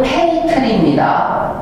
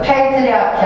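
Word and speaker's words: patri: 발음이 페이트리입니다. 페이트리. 그래서 페이트리아키 하면은 부계사회.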